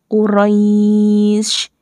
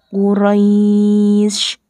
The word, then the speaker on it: Quraisy: karena dibaca waqaf yaitu huruf sin sini kan aslinya harokatnya kasrah tanwin kemudian disukunkan karena dibaca waqaf maka membacanya Quraisy dibacanya the mad layyin Quraisy Hai cara membaca hukum